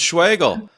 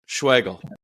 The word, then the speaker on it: Schwagerl: Schwartzel? Oh my goodness, that's way off, Marty. No, it's Schwagerl. It's Schwagerl. We practiced this. Yeah. The R is silent. Schwagerl.